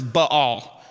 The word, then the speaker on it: Baal: So David went to Baal. Actually, the correct pronunciation of that word is Baal. But it sounds like you're stuttering when you say it.